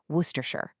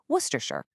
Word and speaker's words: Worcestershire: This comes from a place name in Britain and they've chopped it way way down. All you have to say is worershir. Just say it with confidence. Worershure.